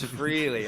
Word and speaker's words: Freligh: freely here in a second so really freely okay everyone's gonna know your name it's spelled f-r-e-l-i-g-h uh for those watching and listening